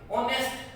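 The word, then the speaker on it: honest: शुरू देखें एच से हुआ है, लेकिन एच साइलेंट होने की वजह से ऑनेस्ट पढ़ा जाता है ये।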